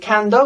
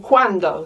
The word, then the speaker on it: cuando: In Portuguese, in Italian, it's spelt with a QU, but we know that en español, QU makes a K sound, and we're not saying cando, we're saying cuando, so we're spelling it with a C-U-A, en español.